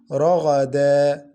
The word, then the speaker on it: رغدا: Like this word, ragadan, ragadan. Tanween is pronounced noon sakina. For tanween al-fatha only, we pronounce the first vowel in stoppage. Listen, رغدا, we pronounce the first vowel only, رغدا.